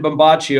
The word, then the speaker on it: Bombace: me and he says they called me captain bombacci over there that's what every that's how my name was originally pronounced it's italian and the iraqis referred